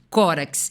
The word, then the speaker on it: Córax: da retórica, que era Tísias e Corax, ou Córax. Vamos ler como se escreve, né? Córax.